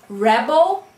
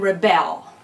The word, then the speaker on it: rebel: So for example, two words like rebel and rebel, right? Rebel is a noun, right? That man is a rebel. Now rebel becomes a verb then, right? He will rebel against his family, right?